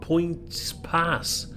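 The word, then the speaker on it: Poyntzpass: I will leave Portadown and pass through several other small stations without stopping, including this one at Points Pass, I think it's pronounced, which I thought was notable, if only for its unusual name.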